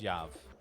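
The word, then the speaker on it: Yoav: Yeah, the O is silent, so it's Yav.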